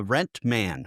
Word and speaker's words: Rentman: Uh let's just start with what is uh Rentman or Rentman is you probably call it there. What how do you pronounce that for you inside the building? We call it rent man. It came from rental management.